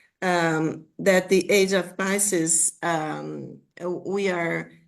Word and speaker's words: Pisces: that uh he talks about the age of pises right u pyson age of pis or pisses how do you say pieces age yeah Pisces, Pisces.